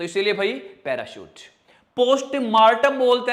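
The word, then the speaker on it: postmortem: मरने के बाद जो चीर फाड़ होती है ना, तो पोस्ट, हिंदी में तो मार्टम ही बोलते हैं, बट इंग्लिश में मोर्टम, तो मोर्टम, पोस्ट मोर्टम, पोस्टमोर्टम।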